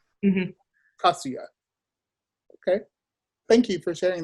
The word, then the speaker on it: Kasuya: In Japanese, the emphasis is on the first syllable if it's 3 syllables or more. So Kasuya. Mm-hmm. Kasuya.